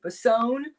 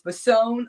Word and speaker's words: Basone: last name is it bason or is it bisoni and she said it's basone like capone okay grandma apparently betty